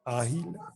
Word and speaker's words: Ágila: ¿Está bien pronunciado como lo pronuncié? Agila, Alex. Ágila, perfecto.